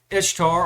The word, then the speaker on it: Ishtar: This Ishtar pronounced Easter. Remember, I told you the correct pronunciation was Easter.